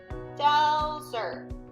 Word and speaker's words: Delzer: Delzer. My jaw dropped 2 times when I said my name, so that means my name has 2 syllables in it.